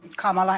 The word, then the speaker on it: Kamala: up to go after Trump let's let's um Kamala and I'm calling you Kamala because for all of those who are mispronouncing it I want you all to know